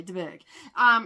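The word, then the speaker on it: de Bourgh: And yeah, so basically, I don't know why I keep trying to pronounce that H. So anyway, DeBerg.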